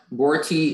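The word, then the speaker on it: boriti: Yeah, Borti is the only pronunciation.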